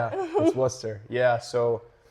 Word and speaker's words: Worcester: Warchester Junior Railers. Yeah it's tough. It's a it's it's Worcester. Oh really? Yeah it's Worcester. I would have never guessed that. Yeah, that's Worcester.